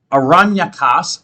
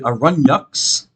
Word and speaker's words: Aranyakas: The Aranyakas, or the Aranyaks, as it can also be pronounced, which also is attached to some of the Vedas.